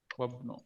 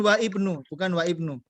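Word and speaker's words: وابن: Wabnu. Ini bacanya wabnu. Bukan wa ibnu. Dia bacanya wabnu.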